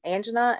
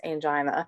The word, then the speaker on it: angina: on to chest pain which some places pronounce angina in some places pronounce angina so it just really depends on where you are in the country as to if this is angina or angina either way it is